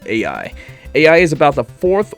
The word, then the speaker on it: Aoye: I think I'm pronouncing that name wrong. I went to a little pronunciation website and they said AI.